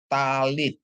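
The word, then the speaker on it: טַלִּית: Tab dikasih patah bacanya ta. Lamet dikasih hirik yot bacanya li ditambah tab ya. Jadi bacanya talit ya.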